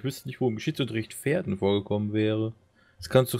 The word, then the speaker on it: Verden: Wird es jetzt Verden ausgesprochen oder Verden? Pferden. Pferden, okay. Mit Fenster-V.